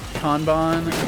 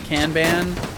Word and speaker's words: Kanban: Tried to pronounce Kanban like Kanban. A little more open of an A.